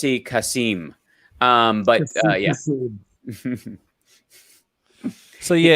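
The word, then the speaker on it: Kasem: love that show and it's pronounced Cass casim um but yeah so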